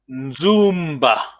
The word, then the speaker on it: Nzumba: Nzumba. Remember, a bit of long vowel, the first syllable.